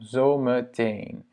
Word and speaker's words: zometeen: Je vais juste le diviser en syllabes. Donc on a zo, zo, ok, donc ça c'est un O long, me, E, me, c'est un O court. En teen, c'est long. À nouveau, zometeen.